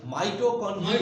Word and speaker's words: মাইটোকন্ড্রিয়া: Cell membrane, cytoplasm, মিটোকন্ড্রিয়া, মাইটোকন্ড্রিয়া। মাইটোকন্ড্রিয়া। মাইটোকন্ড্রিয়া। তারপরে হলো আবার রাইবোসোম, উচ্চারণগুলো সুন্দর হইতে হবে। মাইটোকন্ড্রিয়া, কন্টিনিয়ার না, কন্ড্রিয়া কন্ড্রিয়া।